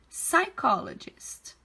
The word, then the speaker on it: psychologist: A gente não pronuncia o P, tá? A gente fala como se ele não existisse. Então, é psychologist.